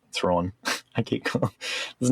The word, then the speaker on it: Thrawn: Wait, so how do you say Thrawn? Thrawn. I say Thrawn. More open.